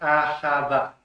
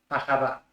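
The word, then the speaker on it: אהבה: La palabra amor en hebreo se pronuncia ahavá, ahavá.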